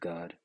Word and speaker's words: Gad: All the treaties that he made with the so-called Native Americans, which are Israelites from the tribe of Gad, which in the Hebrew tongue is pronounced God, right?